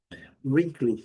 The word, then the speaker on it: wrinkly: Letra W não é pronunciada. Wrinkly são as rugas. Wrinkly, wrinkly. Pronuncia bem forte a primeira sílaba e a segunda também bem característica.